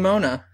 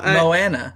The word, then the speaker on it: Moana: it's called Moana now is that how you pronounce that's how that's how everyone's been oh interesting I've been saying Mona no Moana I've heard Moana interesting so uh apparently this movie was supposed